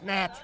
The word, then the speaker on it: gnat: It's a G. Silent. It's Nat.